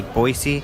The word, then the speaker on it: Boise: Boise that's how they say every hurdle oi locals say Boise Idaho where voice I heard voice also so